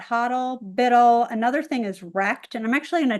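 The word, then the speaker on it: rekt: into the chat because it is spelled R-E-K-T, and that's the same thing where it's not really an abbreviation or an acronym, but it's being used instead of saying like W-R-E-C-K-E-D.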